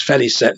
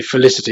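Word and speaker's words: Félicette: well it's Feliz set is the the correct pronunciation is fairly set limited but I just say Felicity because it looks like Felicity to me but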